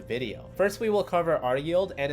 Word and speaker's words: RYLD: like qild and ryld can actually be pronounced just like q yield and r yield which just blew my